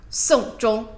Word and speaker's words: 送钟: Song zhong, song zhong. You can see it's different characters, but pronounce it the same.